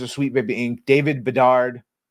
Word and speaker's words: Bedard: Both co-founders of Sweet Baby Inc., David Bedard, rhymes with retard, I know, and Kim